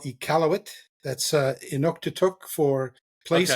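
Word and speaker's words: Iqaluit: and really enjoyed it City how do you pronounce the city again uh the city is called ealt that's uh inuk for place of many fish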